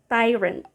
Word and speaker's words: tyrant: even a dictator or a desperate so that's tyrant and this one is you say tyranny i